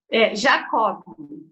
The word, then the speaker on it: Jacoby: Só para eu não pronunciar errado, o seu sobrenome? Jacob. Jacob?